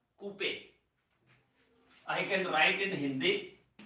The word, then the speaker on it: Couper: Not Couper. R is silent. That is called Couper.